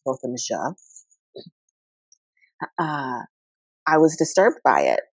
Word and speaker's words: Botham Jean: It's pronounced Botham Jean.